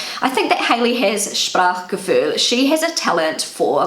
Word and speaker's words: Sprachgefühl: So that's how I say it in my Kiwi German, and this is how it's pronounced on Google Translate. Sprachgefühl. Sprachgefühl.